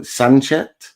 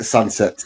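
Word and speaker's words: Sancet: then again recently um is it Oan um Sanche Sunset? Yeah, Sunset. I I like to get my pronunciations right so thank you um Gen for that.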